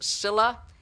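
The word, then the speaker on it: Scylla: mexico and we need is spelt skyla it's pronounced cilla and she's greek and she is a sea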